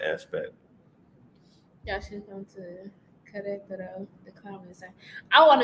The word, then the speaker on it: Querétaro: Y'all should come to Querétaro, the common side.